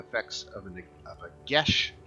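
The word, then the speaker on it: geas: looks like it says guias actually i think the gaelic word or something like that because it's it's pronounced gesh uh so when i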